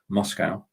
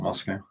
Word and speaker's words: Moscow: they actually threatened to march on Moscow, as we say in England, not Moscow.